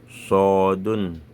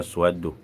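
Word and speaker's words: صاد: Ta'un, Tha'un, Dalun, Dhalun, Ra'un, Zayun, Sinun, Shinun, Sodun. On ne dit pas Swadou, c'est Sodun, Dodun, To'un, Zo'un, Lamun, Nunun.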